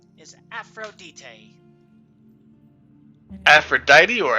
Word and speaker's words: Aphrodite: Elvis Park asking that the English pronunciation is Aphrodite but uh official well like there's like other languages where it's Aphrodite okay so it's the exact same name it's just a language difference yeah I mean I